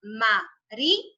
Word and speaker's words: María: Incluso si yo divido esta palabra, este nombre en sílabas, sería María. Me suena totalmente sola.